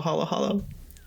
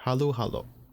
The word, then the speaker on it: halo-halo: one word, halo halo, which is kind of how you pronounce it as well, halo halo. It's not halo halo, it's halo halo. Usually Okay. ends up pronouncing it. Very subtle difference to the untrained ear.